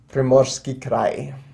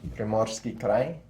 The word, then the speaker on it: Primorsky Krai: or this area, into Primorsky Krai, that's the way it's pronounced, Primorsky Krai, and then pick up Chita here against 1 militia, as was these 2.